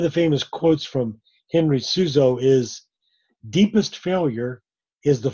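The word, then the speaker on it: Seuse: There was Meister Eckhart, there was Henry Souza, in German it's pronounced, and then the third one suddenly escapes me.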